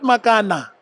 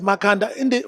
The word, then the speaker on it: Makanda: Well, it's not Makana. The real name is Makanda. We're doing the people's history. We're correcting all the wrong things that we're saying. I think some people could not pronounce Makanda. They said Makana.